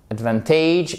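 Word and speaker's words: advantage: take adventage of something adventage vous avez votre accent tonique ici sur la deuxième syllabe tu take adventage adventure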